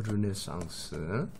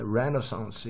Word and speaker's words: 르네상스: 요렇게 그리는 그림, 조명으로, 그러니까 우리가 그 르네상스라는, 지금 우리나라 말로 르네상스, 그 다음에 레네상스 이렇게 발음하기도 하고 르네상스 이렇게 발음하기도 하는데, 레네상스가 르네상스 뭐 두 개 다 괜찮으니까, 어쨌든 르네상스를 갖다가 거치면서 요게 뭐가 그림 기법에서 발달하냐 하면, 첫 번째가 퍼스펙티브라는 거.